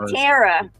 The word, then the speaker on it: Tara: did you guys say Tara Tara like Sarah it's like Sarah but T Tera Tera right Tera it's your vowel pronunciation yeah yeah it's on